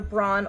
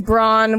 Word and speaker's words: Braun: sent out to Brun either either Bron or prawn I've heard both and I don't know how it's spelled it's Braun with a W like like like strength like versus gota okay